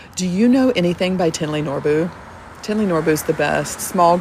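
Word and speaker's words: Thinley Norbu: And it looks like it's spelled like thin, like fat or skinny, thick or thin, thinly, but it's pronounced Tinley Norbu.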